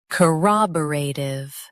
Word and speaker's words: corroborative: Corroborative. Now, read the syllables of British pronunciation shown on the screen naturally. K, rob, ray. Tiv, corroborative. K, rob, ray. Tiv, corroborative. Stress ra and keep tiv light.